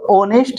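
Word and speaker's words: honest: जो वर्ड होते हमारे ओ से पहले अगर एच दिया हो तो उस कंडीशन में जो एच होता हमारा क्या होता है साइलेंट होता है इस चीज को भी आप जानते रहिए तो ऑनेस्ट में ऑनेस्ट मीस क्या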